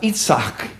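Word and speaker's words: יצחק: named that boy Isaac it's pronounced itzak in Hebrew is because itzak means laughter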